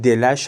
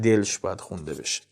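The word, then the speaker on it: دلش: He says: "Bedān khooy-e bad jān-e shirin bedād Nabood as jahān yek rooz delsh shād" The correct pronounciation is 'delash'. However, for the sake of rhythm it's read 'delsh'.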